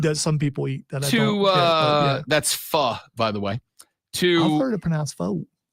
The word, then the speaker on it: pho: That's pho, by the way. I've heard it pronounced pho.